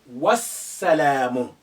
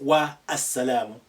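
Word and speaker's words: والسلام: The alif also becomes silent. You say wassalamu, not wa as-salamu.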